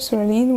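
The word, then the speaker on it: psoralen: toxicity photochemotherapy systemic photosynthesizer soreline with silent P followed by two hours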